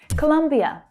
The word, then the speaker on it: Colombia: Colombia or Colombia. Native English speakers will say both, but the stress is on the second syllable.